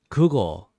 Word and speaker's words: 그거: So again, that's 그, and it's that kind of hard 그, not zeros. 그, 거, 뭐예요? 그, 거, 뭐예요? 그, 거, 뭐예요? So again, a little faster, it becomes that 그거 뭐예요?